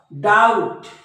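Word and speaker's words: doubt: मध्ये बी सायलेंट असतो टी च्या अगोदर आलेला बी नेहमी सायलेंट असतो बघा डाऊट डाऊट डाऊट म्हणजे या बी चा उच्चार नाही याला डेप्ट नाही हा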